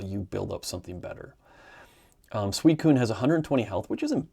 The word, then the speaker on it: Suicune: Suicune, had to look that up, how to pronounce it.